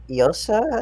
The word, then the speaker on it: Llosa: even mentioned yet, but it was Llosa, I think is how you say it. It's two L's.